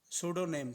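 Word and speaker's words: pseudonym: हैं सोनिम सोडो नेम सोडो नेम ठीक है ना यह पी यहां पर साइलेंट है सोडो नेम कहेंगे इसको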